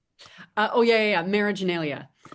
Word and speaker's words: Marriaginalia: Marageneia.